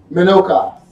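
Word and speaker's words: מנוחה: Because this still water in Hebrew, the word is Menucha. Menucha, and it is spelled Menuchah.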